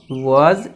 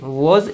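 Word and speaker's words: was: वॉज या वर, फिर plus verb का थर्ड फॉर्म, इसका सही प्रोनाउंसिएशन वर होता है, इसका वॉज होता है, ठीक है, वाज नहीं वॉज।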